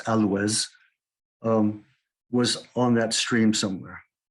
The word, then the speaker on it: Alois: And this reflects and supports this idea that the original mission, Alois's mission, Alois, by the way, pronounced Alois, was on that stream somewhere.